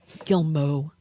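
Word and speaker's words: Guillemot: no longer be there gilmo that's how it's pronounced but what is okay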